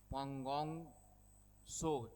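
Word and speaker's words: Pangong Tso: दिख रहा है नाम यह आपका पोंग सो टी साइलेंट है और एक है सो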